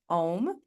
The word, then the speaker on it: om: into some chanting and we chant om which is actually three different syllables a u and M um those also come